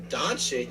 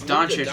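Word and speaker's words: Dončić: Doncic? You mean Doncic? It's Doncic, bro.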